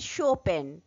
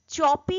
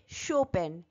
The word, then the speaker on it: Chopin: রিডারের অন্তর্গত গল্পটি লিখেছেন কেট শোপেন চপি নয় উচ্চারণটা খেয়াল রাখতে হবে শোপেন যার মেডেন নেম বা